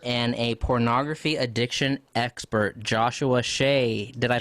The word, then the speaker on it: Joshua Shea: He is an author and a pornography addiction expert, Joshua Shea. Did I pronounce that right?